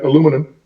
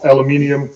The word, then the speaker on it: aluminium: So that's why he decided to go with air-grade aluminum, or aluminium, however you pronounce it.